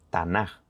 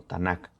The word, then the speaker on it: Tanaj: ese PDF irá explicado Por qué quet tubin se pronuncia con j y no con k por eso dice tanaj y no tanac ahora bien de esta